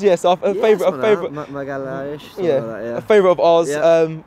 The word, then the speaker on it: Magalhães: Is that how you pronounce it, Magalhães? Yes, a favourite. Magalhães.